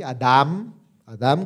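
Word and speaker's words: אדם: se pronuncia así y adam adam con m al final y significa hombre como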